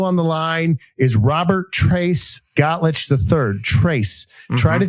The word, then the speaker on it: Tres: Also on the line is Robert Tres Gottlich III. Trace. Try to teach Siri to call Tres. Good luck. His name is Trey, but in Texas, they spell that Tres.